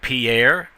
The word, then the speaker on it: Pierre: capital of South Dakota it looks like Pierre but it's really pronounced Pier well you know some